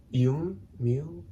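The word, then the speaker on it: Yume: It is spelled Y-U-M-E, Y-U-M-E. It almost sounds like Mew Mew. Yum. It sounds like if you played Mew Mew in like reverse. Oh, that's it? Yum Mew.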